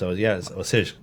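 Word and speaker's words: Osijek: it's spelled Ozijek, but apparently that's not how you say it. I actually listened to it on Wikipedia before Oh, wow. I looked Oh, up the pronunciation because I looked at it. I'm like, there's no way they say that the way that I read it. It's Osij.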